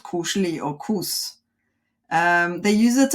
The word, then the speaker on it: koselig: Koselig.